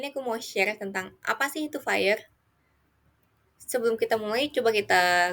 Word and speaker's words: FHIR: Di FIRE yang cara bacanya seperti fire, api dalam bahasa Inggris, merupakan singkatan dari Fast, Healthcare, Interoperability, Resources.